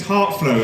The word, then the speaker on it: Hart Floe: interaction going tonight yards my name is Hart flow my Christian name is now I'm a Christian so that's why they call it at your first name my compelling name is Hart flow it's spelled har TF l OE that's not because